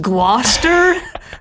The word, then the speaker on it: Gloucester: that water source grouse Esther Shire and it's pronounced Gloucester are you serious they like werster's Oh